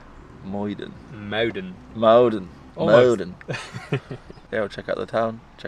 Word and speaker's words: Muiden: This one is harder. Yeah. Muiden. Muiden. Muiden.